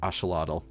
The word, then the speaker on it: axolotl: The closest thing that we got was the axolotl or axolotl, as you know, you're supposed to pronounce it.